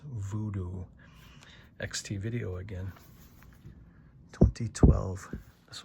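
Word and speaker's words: Woodoo: Here is Fulchie's Zombie, also known in Germany as Voodoo because they pronounce their W's as V. So, that's Voodoo.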